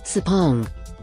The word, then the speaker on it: Sepang: A guy I met on the train from the airport told me how to say it, Sepang, for the week.